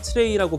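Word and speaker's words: trey: 2는 주스, 3은 트레이라고 발음을 하고 있어요.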